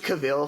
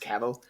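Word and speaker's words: Cavill: when I have because I pronounce it cavil for so long before knowing it was pronounced caval before William bluntly corrected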